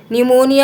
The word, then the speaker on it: pneumonia: Speak out the two words from the lesson whose first letter is silent, pneumonia, and n.